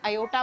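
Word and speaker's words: aorta: ए ओ आर टी ए लिखते हैं। लेकिन जब प्रोनाउंस करते हैं तो ओटा या अयोटा बोलते हैं।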